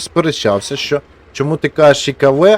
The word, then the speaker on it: Ikv: Отже, Ікв вірно читається, а не ЛКВ.